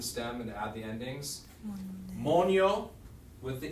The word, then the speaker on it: moneo: Monio with the E works. We don't need to drop it because it does have that people say moneo, but it's monio. The accent's on the first part.